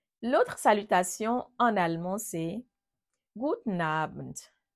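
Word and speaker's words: Guten Abend: courante en allemand l'autre salutation en allemand c'est gouten Abend gouten Abend ça s'écrit en deux mots aussi gouten AB très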